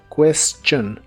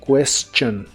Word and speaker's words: question: que significa la pregunta la t de la palabra question se pronuncia como una Che y la i no se pronuncia solo the question the question y usaremos la palabra